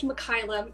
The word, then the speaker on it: Mikyla: Well, first of all, it's pronounced Mikyla. It's Mikyla. a little bit different. Yeah, it's slightly different, but it's kind of